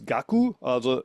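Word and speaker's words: 覚: And kaku, in the end, pronounced here as gaku.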